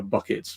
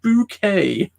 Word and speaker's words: Bucket: Posh um so her her name was spelled bucket and everybody kept calling her bucket Mrs bucket it's pronounced bouquet and she had working